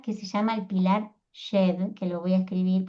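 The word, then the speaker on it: Djed: Y hay otro símbolo también que se lo ve al faraón levantando un pilar que se llama el pilar Shed, que lo voy a escribir porque si no, no me van a entender, porque es muy difícil pronunciar un idioma muerto, ¿no?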